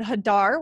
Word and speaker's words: Hadar: us a little bit about where you're from hadar and what you're doing in the esl world